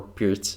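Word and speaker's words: Pirc: or less uh around the perk defense or Pier defense more common pronunciation for uh Slavic countries all right H4 H5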